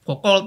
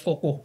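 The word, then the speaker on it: Foucault: Karena biasanya yang membentuk narasi besar itu kalau ada filsuf satu lagi namanya Michel Fuko ya Focol ya bacanya Fukoh ya. Fuko Fuko ya.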